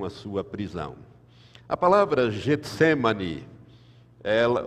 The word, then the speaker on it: Getsêmani: sua prisão a palavra Getsêmani ela o Getsêmani que é a pronúncia certa é com E no fim Getsêmani significa lagar de azeite